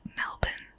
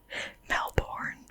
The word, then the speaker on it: Melbourne: melbourne sydney brisbane and it's pronounced melbourne not melbourne or whatever whatever other people say um i personally really